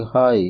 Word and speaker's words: high: The birds are flying हाई इन द स्काई। चौथे जुमले में हाई में HIGH जो इसके लेटर्स हैं में जी साइलेंट लेटर है।